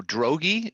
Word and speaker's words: Droege: right please uh correct right rhymes with hoagie hoagie yeah so drogy is that would that be correct you are good awesome no i'm i'm